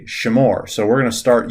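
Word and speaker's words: שמור: would be creating the imperative like you say shamur so we're going to start using more imperatives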